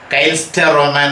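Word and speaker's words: Künstlerroman: Cainster-Roman എന്ന് ഉച്ചാരണം.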